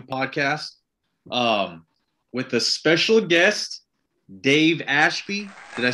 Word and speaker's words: Dave Ashby: This is the Absurd Podcast, I believe episode 4, brand new podcast, with a special guest, Dave Ashby.